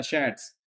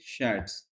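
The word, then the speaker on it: Schatz: जिसका नाम है क्या? शैड्स। एस सी एच ए टी जेड। ठीक है? शैड्स शैड्स नाम है इसका। इसको प्रोनाउंस करेंगे शैड्स। ठीक है? इस हिसाब से इसको प्रोनाउंस करना।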